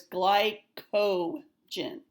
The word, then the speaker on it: glycogen: Ellmers never said that so that's not something we learned it is you're just not pronouncing it correctly so it's glyco Jin okay so this is